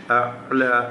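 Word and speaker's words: الْأَعْلَى: അതുപോലെ റബ്ബിക്കൽ അഅല, ഐന് പ്രത്യേകം ശ്രദ്ധിച്ചുകൊണ്ട് ഉച്ചരിക്കുക. അഅല അഅല എന്നായി അഅല.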